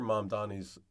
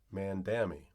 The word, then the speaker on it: Mamdani: New York City, and his rivals had trouble, consciously or not, pronouncing his name during televised debates. In a moment that launched 1,000 memes, Mr. Mamdani memorably corrected former Governor Andrew Cuomo for repeatedly referring to him as Mr. Mandami.